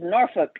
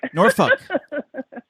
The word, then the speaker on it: Norfolk: It's Norfolk. Norfolk. Almost like you're saying the bad word.